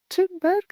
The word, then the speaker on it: Thunberg: transnational level, like Greta Thunberg, which I pronounce completely wrongly and I'm aware of, Thunberg or something, and the European Green Deal. Thunberg is okay.